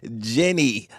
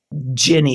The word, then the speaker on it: Ginny: Jenny, or wait, am I saying it right? Or because it's been a while since we talked. Is it Jenny or is it Jeannie? Ginny, like gin.